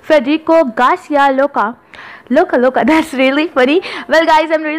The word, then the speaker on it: Lorca: अगर हम ब्रिटिश के बारे में बात करें तो फेडरिको गार्सिया लोका, ओके, इसमें आर विल बी साइलेंट और बाज़ लोग गार्सिया को गार्सिया बोल देते हैं, तो it will not be like that. And the second one is Federico Garcia लोका, ये अमेरिकन प्रोनाउंसिएशन में बोला जाएगा और are will be pronouns are इसमें बोला जाएगा।